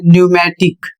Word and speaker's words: pneumatic: इसका उच्चारण होता है न्यूमेटिक। इसका अर्थ होता है हवा से चलने वाला। यहां पर भी पी एन है शुरू में इसलिए पी साइलेंट है।